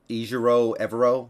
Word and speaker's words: Ejiro Evero: Ejiro Evero, I believe is how you pronounce it.